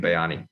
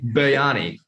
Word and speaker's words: biryani: um definitely a chicken bayani is that how you say it bayani bayani biryani the way it's sort of like spelt b-i-r-y-a-n-i you're missing around the r took my fancy